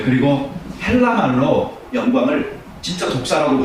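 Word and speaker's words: δόξα: 네, 그리고 헬라 말로 영광을 진짜 독사라고 발음을 해요. 예, 뱀이라는 뜻은 아닌데 그 독사라고 발음을 하잖아요.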